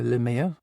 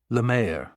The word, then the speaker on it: Lemieux: Lemieux. It's actually pronounced Lemay-oh. Kane said with a smile. Pardon? She said. It's French, he replied. It means the sea.